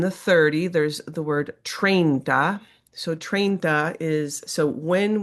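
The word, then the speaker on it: treinta: So it's pronounced train for example e and then we say one uno train.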